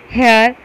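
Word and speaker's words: heir: इसी प्रकार hotel, honest, हेयर जैसे शब्दों में एच साइलेंट है, इसलिए कॉन्सोनेंट से आरंभ होने पर भी इसके पहले एन ही लगाया जाता है.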